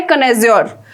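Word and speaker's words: connoisseur: इसका right pronunciation क्या है? कनेज्योर।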